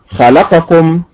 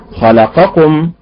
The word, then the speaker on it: خلقكم: الصيغه الثانيه فنقول فنقول خلقكم رزقكم يعظكم نظرهم حمئه شجره رسلنا مثلهم هذه لهجه هذه لهجه خاصه فلا ننطق هذه الكلمات في القران هكذا وانما ننطقها خلقكم بالنبر على حركه الخاء رزقكم بالنبر على حركه